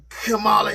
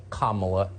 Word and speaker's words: Kamala: we apparently unknowingly mispronounced kamala harris's name it is pronounced comma not semicolon comma like the punctuation mark allah harris fine it